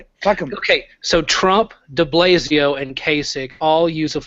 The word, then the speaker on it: de Blasio: know how to pronounce de Blasio it's DiBlasio it's not the Blasio it's Bill de Blasio but it doesn't matter